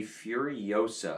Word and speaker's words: Furiosa: Coming in 10th place is going to be Furiosa, I believe is how you pronounce it.